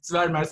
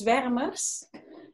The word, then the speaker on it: Zwermers: company's very much spurners swarmers i don't know how to pronounce it but you can say okay um well you pronounce it quite well it's veremers and no i didn't